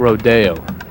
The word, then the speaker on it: Rodeo: do they call it Rodeo sounds fancy it's bougie that's how you say it Rodeo but it's spelled Rodeo it's not we're not in Texas with Rodeo while being from San